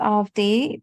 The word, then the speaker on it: Avadhi: so my name is AI in the spelling of my name the second a is silent so I always like